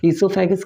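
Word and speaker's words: oesophagus: लोग इसको कहते हो ओसोफेगस या तो ईसोफेगस, जो कि ओ साइलेंट है। ईसोफेगस कहिए, ज़्यादा बढ़िया रहेगा।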